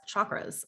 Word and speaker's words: chakra: energy centers which are normally referred to as chakras or chakras or however you want to say